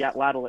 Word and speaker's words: atlatl: and uh this thrower part is actually the atlatl itself and that's spelled atl atl and the long sphere is